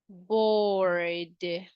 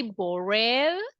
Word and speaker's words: bored: the letter D and the pronunciation will be bored bored if you see we don't say borrel we say board is that clear yes